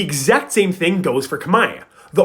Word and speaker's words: Khmer: the language you see in Old kamay the letter R was always pronounced so kamay would have actually been pronounced kamay but as the language evolved most dialects went through a sound change where the letter R was lost at the ends of syllables that change should look